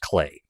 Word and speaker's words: Klei: Klei, it rhymes with play. Okay. Yep. All right. So apparently it's pronounced Clay.